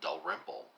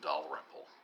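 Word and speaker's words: Dalrymple: say his name he he emphasizes a latter syllable I think he says William Del rmle I had always called him William do rmle but William do rmle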